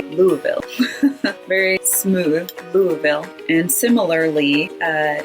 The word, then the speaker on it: Louisville: Louisville or Louisville, but they take out a lot of those letters and just say Louisville.